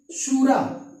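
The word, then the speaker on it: شورا: अफगानिस्तान की जो संसद है उसको बोलते हैं शूरा। हालांकि यहाँ पर जो हिंदी में लिखा जाता है वो शोरा लिखते हैं, लेकिन शूरा जो है वो सही प्रोनाउंसिएशन होगा, उसका उच्चारण सही यही होगा।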